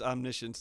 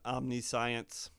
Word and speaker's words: Omniscience: pretty pretty bad missions I pronounce this omniscience not omniscience you may cast spells